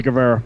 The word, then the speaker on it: Guevara: Sammy Guevara, isn't that how you say his name? Yeah, Sammy Guevara.